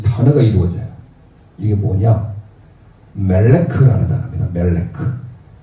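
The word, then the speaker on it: מלך: 카프는 크 발음이죠. 그래서 읽어보세요. 멜레크.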